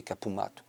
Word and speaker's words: Capu Mattu: d'où d'où est né Kapumatou si on doit le prononcer l'accentonique c'est capumat.